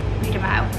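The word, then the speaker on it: Brie de Meaux: Read them out. How do you spell that? Brie. Yeah. D-E. Yeah. M-E-A-U-X. Read them out.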